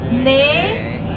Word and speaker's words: 네: again ano oh okay can you remember Ne ano.